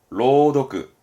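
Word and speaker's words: 朗読: 발음은 메로. 명랑은 메로. 낭독, 로도크.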